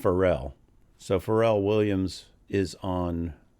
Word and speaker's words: Pharrell: I think it's pronounced Pharrell.